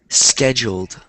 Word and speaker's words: scheduled: It's pronounced scheduled. Yeah. So, one thing that I've noticed with Spanish speakers um is that in front of s words, a lot of Spanish speakers put an e.